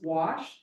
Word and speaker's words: gouache: So anyway, the way you pronounce it is gouache.